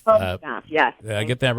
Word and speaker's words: Bojinoff: And how do I pronounce the last name? It's I believe it's Paula? Bojinoff. Bojinoff. Bojinoff, yes.